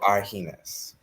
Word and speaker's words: Argennis: Here's the easiest thing that needs G. Pronounce it as an H. Yes. That's all you need. Yeah, the G throws me off. So Argennis.